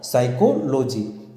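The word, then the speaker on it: psychology: अब दोस्तों यहाँ पे पी साइलेंट है, तो ये दोस्तों इसका प्रोनाउंसिएशन कैसे होगा? इसका प्रोनाउंसिएशन होगा साइकोलॉजी, यानी द स्टडी ऑफ ह्यूमन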